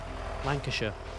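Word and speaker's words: Lancashire: If if you see a shia in England, it's it's normally sh. If it's a shia, it's a sh normally. Lanasher, Yorkshire, Tuxen.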